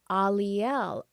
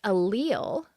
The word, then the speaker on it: Aliel: And I was like, Aliel. Oh, Aliel. It's like Ariel. But just like reading it, I just was pronouncing it wrong in my head. And they're like, it's not pronounced allele. Think of Ariel.